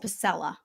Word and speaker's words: Pasela: want to say that Don's last name is pronounced Pella Pella Pella so that saved me